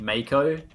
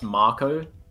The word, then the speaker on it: Marco: so many people that it's not mako it's marco which is correct but you know us australians don't know how to pronounce anything yeah you thought americans saying